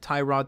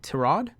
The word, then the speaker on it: Tyrod: know if they have Tyrod Taylor I think the I think he likes his name to pronounce Terada I'm gonna go with Tyrod no offense if you're